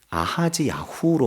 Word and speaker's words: 아하시야: 또 원어적인 발음을 보면 여호아하스는 예호아하즈라고 발음이 되고 아하시야는 아하즈야후로 발음이 됩니다.